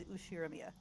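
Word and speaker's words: Ushiromiya: Okay, but my family name is Ushiramia. That's a fairly plausible Japanese pronunciation so far.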